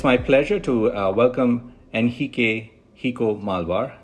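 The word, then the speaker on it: Henrique Malvar: pleasure to uh welcome nhik hio malar that's the Brazilian Portuguese pronunciation also known as Rico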